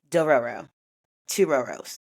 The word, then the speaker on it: Dororo: anime known or called doorero do ro I think it's three syllables. I'm double checking myself. It is definitely door two rows.